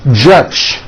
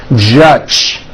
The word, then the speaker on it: judge: Now, the mistake that many foreign speakers make is that they unvoice the J sound at the end of a word. So, for example, many foreign speakers would pronounce the word judge as judge, turning that last sound into an unvoiced CH. Judge. And that is not right. The J sound in American English is always voiced.